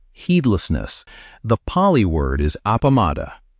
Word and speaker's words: appamāda: The Pali word is appamada. Say it like apamashta, and it means the opposite.